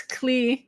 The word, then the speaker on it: Clare: And then when I'm in England, so it's Claire in Australia, it's clear in New Zealand, and it's Claire in England. So Claire, Australian, Claire in England, and then clear.